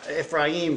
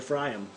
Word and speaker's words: Ephraim: second he called ephraim i've been saying you know ephraim for a long time but actually the the pronunciation i looked at him strong closer is actually a fry him fry him yeah like e-p-h-f-r-a-h-y-i-m-f